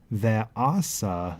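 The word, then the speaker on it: וְעָשָׂה: Yisrael ahav et Yosef ve'asa lo ketonet, where I pronounce this ve'asa, where the accent is here.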